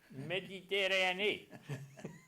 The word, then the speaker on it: Méditerranée: Ça m'a pris presque 2 ans pour apprendre à prononcer Mediterranean en français. Méditerranée.